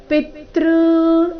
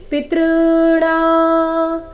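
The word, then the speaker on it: ಪಿತೄಣಾಂ: ಜೊತೆಗೆ ಸೇರಿ ತೃ ಆಗಿದೆ ಪಿ ಮೇಲೆ ಆಘಾತ ಕೊಡಬಾರದು ಪಿತೃ ಈ ರೀತಿ ಹೇಳಬಾರದು ಇದನ್ನ ಗಮನದಲ್ಲಿ ಇಡಿ ಪಿತೃಣ ಪಿತೃಣಾ ಮರ್ಯಮಾ ಇದು ಸರಿಯಾದ ವಿಧಿ ಪಿತೃಣಾ ಮರ್ಯಮಾಚಾಸ್ಮಿ ಯಮಸಯ್ಯಮತಾಮಹಂ ಯಮ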